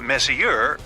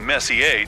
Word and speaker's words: Messier: well young lady the m stands for Messier pronounce Messier not Messier as in is your room messier than mine Charles Messier I mean Messi a to be precise was a French astronomer in